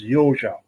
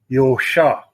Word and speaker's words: Josa: heard it phonetically and my last name in hungarian was yojo now today people in hungary say yosha because i don't have a z in it but my father always pronounced it the old xia so anyway my grandfather